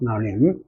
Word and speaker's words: limb: 그래서 비발음 안 하는 거 아시죠? limb.